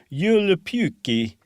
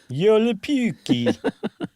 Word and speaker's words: Joulupukki: Finland, where in Finland they know Santa Claus is Joulupukki. That's in Finnish. I've seen Rare Exports enough times that I'm pretty sure that's how they pronounce it.